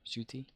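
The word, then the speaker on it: Ncuti: The N is silent in his name. The not NC, but it's like a Chuti, Cuti or whatever, Chuti.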